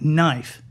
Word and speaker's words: knife: too many silent letters like knife a silent k a silent k and